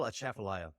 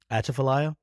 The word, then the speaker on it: Atchafalaya: Spell Atchafalaya. Atchafalaya? That's not how you say it. Atchafalaya? Atchafalaya. Atchafalaya. The Atchafalaya River? Spell it.